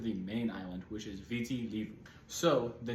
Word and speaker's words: Viti: So the name Fiji is actually the anglicized version of a mispronunciation of the actual name of the island nation, which is Viti, as the locals call it.